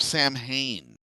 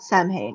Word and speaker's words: Samhain: Well, it's spelled Samhain. It's pronounced Samhain.